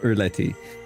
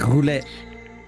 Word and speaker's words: roulette: you do the russian relay too it's not rouletti it's roulette it's french we don't say the l we